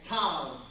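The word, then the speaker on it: ת: Tav. Tav as in T as in tall.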